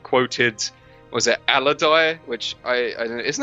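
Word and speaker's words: Alodi: I always thought it was pronounced Elodie, but I don't know. Whatever. I'll say Aladai because that's how they say it in the film.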